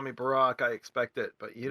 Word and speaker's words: Barak: old testament it's a it's a hebrew name that should be pronounced barack but they're like you know midwesterners from michigan going oh barrack that sounds nice yeah